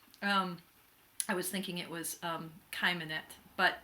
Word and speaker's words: Cheimonette: K, but more precisely, it's more like the CH in Bach, or kind of guttural, like Hebrew.